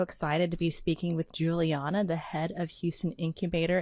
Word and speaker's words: Juliana: You also say Juliana, right? So I'm very fine with both pronunciation.